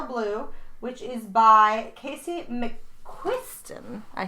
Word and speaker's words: McQuiston: Today we're discussing Red, White, and Royal Blue, which is by Casey McQuiston.